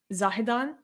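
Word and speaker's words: Zahedan: was a city I'm not sure how to pronounce it is it zahidan yes in the baluchistan province of Iran and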